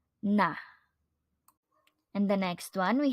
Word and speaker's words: 나: topic noun I or in Korean it is na nah in the next one we have here our